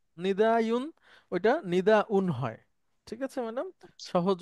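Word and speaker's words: نداء: ইলাজুন ইলাজু আচ্ছা এরপরে ম্যাডাম বলেন না মানে নিদায়ন নিদায়ুন ওইটা নিদাউন হয় ঠিক আছে ম্যাডাম সহজ উচ্চারণ হয় নিদাউন হামজা দিয়ে ইয়া দিয়ে হয়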